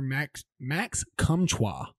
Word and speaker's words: Max Comtois: that you threw my boy out on here, Max Comtois. So, in case you didn't know, that's how it's pronounced.